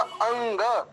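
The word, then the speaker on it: अङ्ग: आ के बाद अनुस्वारी, लेकिन गा अक्षर के कारण इसको क वर्ग का अंतिम पांचवा अक्षर हो गया गा, तो शुद्ध उच्चारण होगा अंग।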